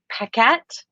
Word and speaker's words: Paquette: so sorry, and Sarah Paquette. Is that wrong too? I always say Sarah P because I always say it wrong. Okay. That's our girl Sarah. Yeah. Yeah, Sarah I knew, Paquette.